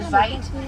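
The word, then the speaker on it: wyd: Now white rhinos get their name from the Afrikaans word vite. Now vite is spelled W-I-T and it means wide, not white.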